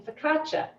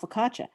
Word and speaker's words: focaccia: a little bit about focaccia but the reason that it's the ci in an italian name is pronounced like cha because there is no